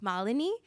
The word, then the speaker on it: Malinee: My role with SAP is I work as an HR business partner, and just so I pronounce my name correctly, so you all know it's Malini, and I work as an HR business partner,